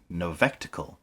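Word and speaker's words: Novectacle: Produced by Novectical. I'm assuming that's how you pronounce the name. Novectical. Like spectacle. Novel spectacle, I guess?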